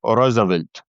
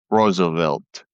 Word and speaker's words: Roosevelt: The Saudis like to pronounce his name as O'Rosavelt instead of Roosevelt.